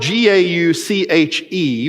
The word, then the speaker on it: gauche: connotation of bl right something that's gauche and it's spelled g-a-u-c-h-e because it's from the french and french people